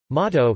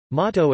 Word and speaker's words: Mató: Mató (Catalan pronunciation: M2) is a fresh cheese of Catalonia made from cow's or goat's milk, with no salt added.